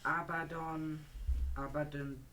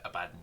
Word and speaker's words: Abaddon: I'm using that Abaddon black, I don't know how to say it. Okay, fair enough, you can't say. I used to call it Abaddon. It's Abaddon, but it took me like 3 years to figure that out.